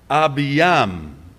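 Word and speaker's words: Abijam: get to chronicles it's not abhiya it's abhiyam who's yam it's not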